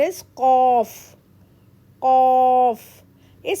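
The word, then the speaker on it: ق: But qaf is heavy letter, so we have to pronounce the way we pronounce orange. Qaf.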